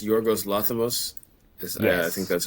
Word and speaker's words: Yorgos Lanthimos: Uh, it's Yorgos Lanthimos. I think Yes. that's how you pronounce it.